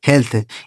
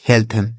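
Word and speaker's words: health: आपका हेवन ठीक है तो यहां पर इ ए का उच्चारण क्या हो गया ए की मात्रा जैसे हमने पढ़ा dead हेड हेल्थ bread haven तो उम्मीद कर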